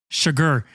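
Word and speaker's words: Chigurh: This is obviously an extreme because Sjogren, how do you pronounce it? Sugar. Oh, who's that? Sugar. Yeah, Sugar.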